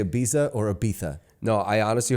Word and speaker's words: Ibiza: It's true way to pronounce it is Ibiza.